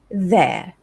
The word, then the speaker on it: they're: I've heard people say they are or there, there. So it's actually there. It's the same pronunciation as in the word THERE and THEIR.